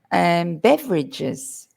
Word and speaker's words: beverages: Beverages. Notice that Drinks. one. Beverages, 3 syllables, not beverages.